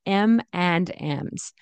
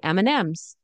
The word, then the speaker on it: M&M's: mnm's M&M's M&M's right we don't say m and M's do you want some M and M's that's too that's a little too formal and a little to pronounced I guess um we usually say M&M's do you want some